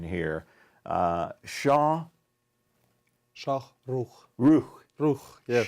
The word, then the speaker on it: Shokhrukh: And let's see how we do with the Russian pronunciation here. Shokhrukh. Shokhrukh, yes. Shokhrukh.